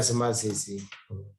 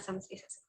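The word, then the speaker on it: samasīsī: Jivita samasisi. Samasisi, sorry, not samasisa.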